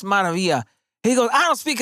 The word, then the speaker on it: Maravilla: And I said, hey, look, it's pronounced Maravilla.